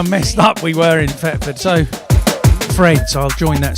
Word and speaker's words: Thetford: See, I'm from Thetford, which sounds like it's with an F, but it is actually spelt with a TH.